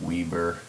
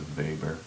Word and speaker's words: Weber: name it's called a Weber looks like Weber if you anglicize it but in the German pronunciation it's a Weber and this is given